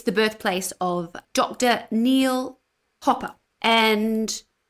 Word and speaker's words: Hopper: But Dr. Neil Hooper. Hopper. Hooper. How do you spell How do you say Hooper? And how do you spell Hopper? H O double P Hopper Hopper Hopper. Dr. Neil Hopper. Yes, that would be right.